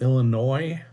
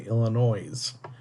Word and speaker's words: Illinois: peeve here it's pronounced Illinois that S is silent so many people especially in this country get it wrong they say Illinois's it's not Chicago Illinois